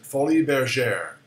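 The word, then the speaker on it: Folies Bergère: your teeth next word oh I know how to pronounce that because I'm an old person fully their share honey been again honey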